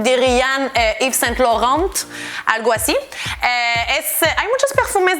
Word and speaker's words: Laurent: Y después de eso tenemos Laurent, Laurent. Así que A-U, ya lo dije, es O y E-N es en. Y no se pronuncia la T.